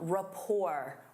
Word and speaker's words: rapport: Instead of saying, "They work well together," you can say they have a strong rapport. Rapport. Notice that T is silent.